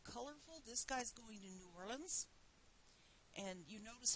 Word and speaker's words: New Orleans: relatives down there and they pronounce it in warrens so I have a tendency to do that too but this is another